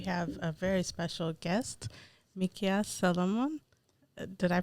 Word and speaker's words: Mickias Solomon: and today we have a very special guest mikia Solomon did I pronounce that right you got it welcome thank